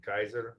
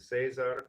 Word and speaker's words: Cesar: assays are dependent on you want to say his name Kaiser that's the Latin Jays Jays are that's the that's the Italian and Cesar or Spanish Milan he is offered kind